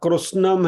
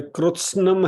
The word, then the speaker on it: कृत्स्नम्: लेकिन यहाँ कृष्णम है, कृष्णम का कृष्णम नहीं होना चाहिए, ध्यान रखिए प्रोनाउंसिएशन करते समय। हमारे साथ ये जो साथ में अभी पारायण करेंगे श्लोक का, तो कृत्स्नम है, कृष्णम नहीं है,